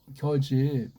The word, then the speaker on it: 겨집: 겨집.